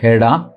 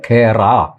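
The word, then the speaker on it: Khera: പേരെ ഉള്ളൂ ഒന്ന് പവൻ കേട വേറൊന്ന് നമ്മുടെ ജയറാം രമേഷ് പവൻ കേറ എന്ന് മലയാള ആളുകൾ പറയും ആ ഉച്ചാരണം തെറ്റാണ് കെഎച്ച് ആറ എന്ന് എഴുതുമെങ്കിലും അത് പറയേണ്ടത് കേട എന്നാണ് അതുപോലെയാണ് മല്ലികാർജുൻ കർഗെ എന്ന്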